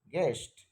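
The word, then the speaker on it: guest: এর উচ্চারণ হচ্ছে না গেস্ট জি ইউ এস টি গেস্ট এখানে কিসের উচ্চারণ হচ্ছে ই এর উচ্চারণ হচ্ছে গেস্ট তাহলে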